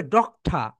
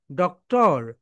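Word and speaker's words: doctor: এখন দেখো my dear soldiers এটাকে তুমি যদি ব্রিটিশ উচ্চারণ করো তাহলে হবে ডক্টা। কি হবে বলতো? ডক্ঠা এন্ড তুমি যদি এটা আমেরিকান উচ্চারণ করো তাহলে হবে ডক্টর ডক্টর তাহলে দেখো মাই ডিয়ার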